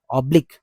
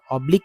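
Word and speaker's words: oblique: दिया है तो यहां पढ़ेंगे इसका उच्चारण सही उच्चारण है ऑब्लिक य ऑब्लिक जो इसका उच्चारण है लेकिन इसका हिंदी अर्थ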